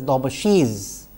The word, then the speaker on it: Daubechies: Incidentally as I mentioned dbash or you know sometimes it is pronounced as dbashiz has been a mathematician scientist engineer whatever you want to call her of repute.